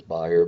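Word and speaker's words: Bayer: may be familiar with if you're German you might pronounce it as buyer but we often in America call it bear um it's a major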